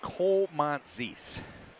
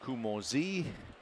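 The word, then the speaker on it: Koumontzis: He said Komantzis. So I was saying Kumozi. He said Komantzis.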